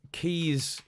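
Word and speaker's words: quay: think um sort of keys next to water or around water are spelled like this but they're still just pronounced they're still just pronounced key uh like uh newkey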